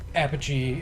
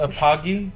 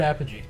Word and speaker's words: Apogee: the list it's not it's not a Pocky it it's a I've always heard Apogee Apogee I've heard that with you I don't know I never knew that so I might have been saying it wrong my whole life it's a shout-out to LGR because he always says Apogee so I'm gonna go with him okay there you go all